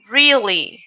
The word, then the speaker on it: really: Then we have really. The E and A, they sound like E. Really.